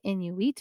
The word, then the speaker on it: Inuit: So sometimes you'll hear people say Inuit. But I like to say Inuit because I actually asked one of my Indigenous friends how to say it properly, and it is Inuit.